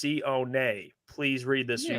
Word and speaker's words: Sione: His name is pronounced Sione.